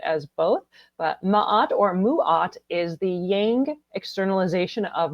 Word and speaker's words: Ma'at: So here we have mahat or apparently Ross said it's supposed to be pronounced muat.